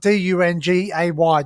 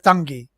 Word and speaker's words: Dungay: it's over at dungy so if you look at the name of spell it's about d-u-n-g-a-y dungay but it's dungy and that's where they